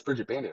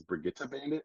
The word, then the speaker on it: Bridget Bandit: And I was like, oh, and that's also I took 2.5 years of German, so my brain has been like Germanified with a lot of pronunciations that I like when I'm reading words. So I thought it was Brigitte Bandit, That's fair.